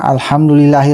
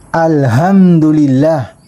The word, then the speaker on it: alhamdulillah: sabihin mo na alhamdulillah kapag gamitin natin yung ha naano ay mabibigkas mo ito ng alhamdulillah kaya hindi natamaan yung pronunciation mo sa letter h kailangan dito kaya alhamdulillah alhamdulillahi rabbilamin itong itong